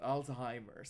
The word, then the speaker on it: Alzheimer's: Mali lang ang pronunciation, pero tama. Tama naman ang sagot ng aking anak. Alzheimer's. Dapat. Alzheimer's.